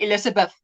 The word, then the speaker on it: Elizabeth: If you say it at the end of the word, let's say the word Elizabeth. Now, if you have a very strong Afrikaans accent, you would say Elizabeth, like an F.